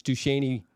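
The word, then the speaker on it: Duchesnay: it yeah uh I I pronounce it phonetically but it's du sheney to me yeah the Shen yeah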